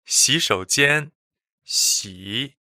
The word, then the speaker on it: 洗手间: It is 洗手间，洗 is a third tone, 手 third tone, and 间 is first tone.